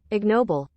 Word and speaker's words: ignoble: don't get an american there it is ignoble yeah that's a hard g there's a nice horde